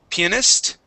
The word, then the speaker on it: pianist: Okay, we have the word pianist. Pianist. Pianist. Okay, now class, you may hear this two ways. Personally, I say pianist. I put the accent on the I.